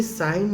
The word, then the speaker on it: sine: Basically सिन लिखते हैं, है वो पढ़ते साइन है क्योंकि उसका एक्चुअल नाम ही साइन है। और ये साइन ने बस इतना आपको